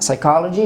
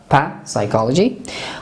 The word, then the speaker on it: psychology: حرف N و S قرار بگیره ما را تلفظ نمیکنیم مانند pneumonia, not pneumonia, and psychology, not psychology.